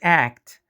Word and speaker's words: act: Now the word act, the same thing happens. The tu at the end is dropped here too because it's at the end of the word and there is a consonant before it and after it.